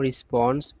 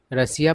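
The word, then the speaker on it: Russia: sauce triggered a sharp response from रशा देखिए इसको बहुत लोग रसिया पढ़ते हैं है ना लेकिन सही उच्चारण होता है रसा वैसे आप जैसा उच्चारण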